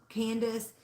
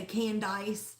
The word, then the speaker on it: Candace: been spelled incorrectly also Candace people always spell it c a n d i c e or they say canise where they call me Kansas I had a a